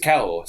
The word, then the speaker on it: Cahors: To an English person, we heavily pronounce the H. That's just the way Cahors. English goes. Yes, Cahors. But of course, you're not supposed to pronounce that H in any way, shape, or form.